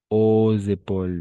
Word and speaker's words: aux épaules: Aux épaules. N'oubliez pas ici de faire la liaison. Aux épaules. Et S al final tampoco se pronuncia.